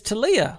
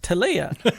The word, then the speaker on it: Talia: My name is Talia, pronounced Talia. This makes more sense if you're reading. Because you could mistake it for Talia.